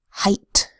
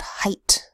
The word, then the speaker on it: height: where it says a there is one commonly used word where the EIG h phonogram does not make a long a sound and that is height let's write out height this will be a site word for us we need H to say an e G H to make the long I sound I and the T to sate I height let's review the other